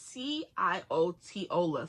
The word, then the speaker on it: Ciotola: Yeah, it's C-I-O-T-O-L-A. Ciotola.